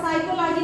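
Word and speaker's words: psychology: जैसे कभी आपने साइकोलॉजी नहीं पढ़ा, साइकोलॉजी पढ़ा, क्योंकि आपको पता है कि पी को हमें साइलेंट करना है, रिटन हमें लिख देना है, ठीक है।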